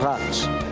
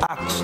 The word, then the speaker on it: Atos: Espero que eu tenha pronunciado o seu nome certo, Ratus. É Atos, né?